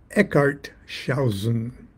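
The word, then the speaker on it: Eckartshausen: um it is I'm going to have to pronounce his name correctly Carl Van eart shaen the cloud upon the sanctuary and uh uh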